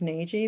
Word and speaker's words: Nagy: Nagy because I've heard that name said that way in North America, Okay. but in the audiobook, it will be heard differently. We decided to go with something closer to the Hungarian pronunciation because we figured that's how she would have introduced herself. But I just say Nagy in my head.